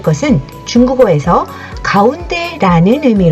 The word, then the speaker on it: 中: 이때는 한가운데 중간을 의미를 가집니다 대표적 2탄 어로 중간 종지에 이라는 단어가 있죠 그럼 확장에서 생각해 볼게요